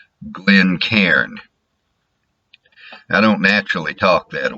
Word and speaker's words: Glencairn: In Scotland, it would be something like, and I'm not going to be doing it exactly, I'm sure, something like Glencairn. In my Texas hick pronunciation, Glencairn. If I try to do it Yankee style, and I have to stop and get myself to do it, Glencairn.